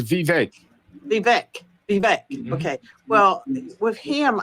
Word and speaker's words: Vivek: How do you pronounce his name? Vivek. I think he says Vivek.